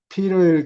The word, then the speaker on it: Peter: 액센트가 없을 때는, 액센트가 있을 때는 T를 발음을 해야 되는데, 예. 세게. 예, 세게. 근데 Peter일 경우에는 액센트가 없을 경우에는 D 발음이 나요. 예. 부드럽게 굴러가는.